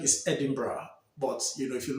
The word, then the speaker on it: Edinburgh: a place called Edinburgh you know the actual pronunciation is Edinburgh but you know if you look at it in writing you see it as Edinburgh here was Edinburgh and Edinburgh is actually the